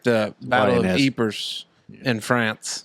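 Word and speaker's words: Ypres: how you spelled his name but you just pronounced it Eve yeah the Y it's kind of like the Battle of eers in France like eers creepers yeers well ypr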